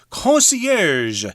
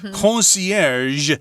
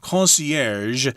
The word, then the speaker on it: concierge: its new approach to concierge service. Okay, that, of course, is a French word, concierge, that might be hard for y'all to pronounce here because it's got the je sound at the end. Concierge.